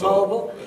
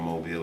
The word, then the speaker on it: Mobile: everybody keep correcting me it ain't mobile it's mobile with some down here